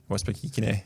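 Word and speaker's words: Westbrook-Ikhine: Westbrook Ikene.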